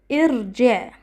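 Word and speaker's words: ارجع: If the third letter has a Kasra, Hamzat al-Wasl is pronounced with a Kasra. Like the verb irji'. We look at the third letter, which is Jim, and Jim has a Kasra, so Hamzat al-Wasl takes Kasra. If the third letter of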